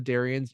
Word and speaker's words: Darian: more focused on the darion's engineering DNA to make the quote unquote perfect race Darion rhymes with Aryan get it this episode that is